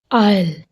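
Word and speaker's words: aisle: आयल, अब देखो एल से पहले क्या आ रहा है? एस, तो यहाँ एस साइलेंट होएगा।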